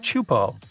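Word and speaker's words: Teahupo'o: It's pronounced Chupo, and it means broken skulls in Tahesian.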